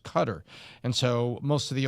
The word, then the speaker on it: Qatar: And by the way, when Peter Ducey says cutter, half the media saysQatar, the other half says car.